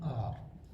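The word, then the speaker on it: hour: For example of vowel sound: an ant, an enemy, an ice cream, An orange, an umbrella, an R.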